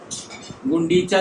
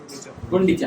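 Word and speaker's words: गुंडिचा: गुंडीचा नहीं है, ई बड़ी नहीं है, ई क्या है, छोटी है, गुंडीचा।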